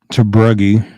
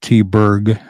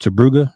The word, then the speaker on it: Tabruggy: It's Tabruggy is how I pronounced it. When I was growing up, we pronounced it T-Berg, but I was told it was actually pronounced Tabruggy.